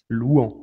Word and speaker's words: Luan: sur cette copa libertadores louhans ouais je préfère dire luan ça je vois mal aimés c'est la présence est prise près prononciation brésilienne des lourds et pour faire